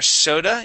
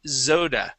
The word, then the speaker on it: soda: there okay now here when you read guzzled their soda you had said Zoda okay oh yeah because I